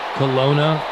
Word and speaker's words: Kelowna: Since retiring, McGinley has resided in Chestnut Hill, Massachusetts, and, I don't know if I pronounce this correctly, Kelowna, British Columbia. Yeah, no, that's right. Kelowna, British Columbia.